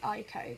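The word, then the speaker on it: Eyeko: I think it's pronounced Ico because it's I and then Co.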